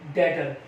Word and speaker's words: debtor: उसके बाद एक एग्जांपल और ले लेते हैं बेटा, DEBTOR, डेटर। इसे बेटा बी साइलेंट होता है, डेटर बोलेंगे।